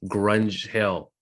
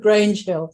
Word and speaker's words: Grange Hill: 30 years, and it's called Grunge Hill, if I'm pronouncing it right. It's called Grange Hill.